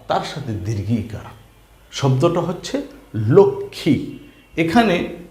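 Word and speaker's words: লক্ষ্মী: খিয় ম ফলা তার সাথে দীর্ঘীকার শব্দটা হচ্ছে লক্ষী এখানে ম আছে কিন্তু ম এর কোন উচ্চারণ হয় নাই বানান করার সময় বলতে হবে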